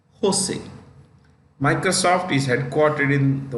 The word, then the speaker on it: Jose: Cisco San Jose California this is pronounced with an H Jose Microsoft is headquartered in